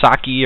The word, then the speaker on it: Socke: I don't know if it's Saki or sock. I'm pretty sure it's just sock like the E is silent.